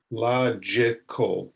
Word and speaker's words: logical: In this, the G makes a J sound, a J, logical. That's a three-syllable word, logical.